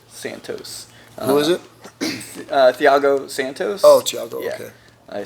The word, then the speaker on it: Thiago: number three are Anderson Silva Anthony Johnson okay Theo Santo Santos who is it Thiago Santos oh Thiago okay I said it wrong